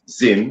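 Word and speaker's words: Zzyym: z-z or z-zed z-z-y-y-m pronounced zin as if it were z-i-m-m or z-i-m-n of fort collins colorado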